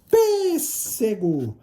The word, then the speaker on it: pêssego: gente de uma sílaba pêssego pêssego a sílaba tônica é a antepenúltima pêssego veja que ela